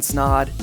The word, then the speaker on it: Snod: It's Snod. It rhymes with odd.